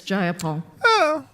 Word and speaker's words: Jayapal: If you're going to say my name, please say it right. It's Jayapal.